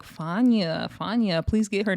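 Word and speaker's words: Fania: Even Natalie was like, "Fana, FA, please get her name right." You still didn't say it right either. It's FA. The I is silent like F A N A.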